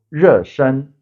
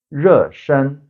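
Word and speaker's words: 热身: And the warming up is called 热身, 热身. So 热 means hot, warm. 身 is from 身体, 身体 meaning body. So 热身 to warm up your body.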